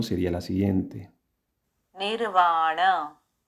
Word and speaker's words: nirvana: la rama del budismo Theravada, se interpreta el nirvana como la cesación del ciclo de renacimientos y el logro de un estado más allá del sufrimiento condicionado.